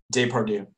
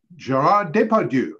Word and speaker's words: Depardieu: Depardieu. Gerard Depardieu. And I'm sure Alex complained about that one because it doesn't really rhyme with do, but you are correct.